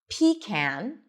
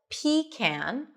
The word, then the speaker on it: pecan: You can either pronounce it as pecan, pecan, where the stress is on the first syllable, pecan, or pecan, p, short I, p, unstressed, con with an as in father. Pecan, as in cat, pecan. Pecan, pecan. Choose whatever is easier for you.